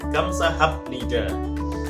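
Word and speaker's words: 감사합니다: Nah, terus juga ada kamsahamnida. Kenapa kok ham bacanya? Padahal itu hiet a biep, kok bukan kamsahamnida? Ada biep bertemu nian, biep bertemu nian dibaca miem, masuk nasalization, persengawaan.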